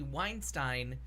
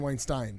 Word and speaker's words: Weinstein: Harvey Weinstein yeah okay you're saying Weinstein yeah it's because herb Weinstein was like the main anchor on the Buffalo news and I do that's how I hear it pronounced well anyways there was